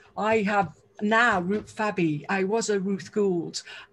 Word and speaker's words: Fabby: And now I've got an extra syllable. I'm a Fabby. And I love being a Ruth Fabby because I'm fab.